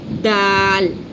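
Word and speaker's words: د: The next one is dal. This is the in this case we touch our tongue tip here behind the front upper center two teeth. Is the makhraj of dal and ta are the similar, so is dal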